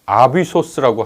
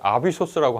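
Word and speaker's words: ἄβυσσος: 왜 우리 어 아비소스라고 하는데 헬라어로는 그게 영어로 그대로 내려왔죠. 어비스라고 발음하는지 모르겠습니다. 근데 아비소스라고 하는 단어거든요.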